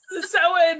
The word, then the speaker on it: Samhain: Samhain. I don't say it right. Yes, Samhain is the correct pronunciation for All Hallows Eve.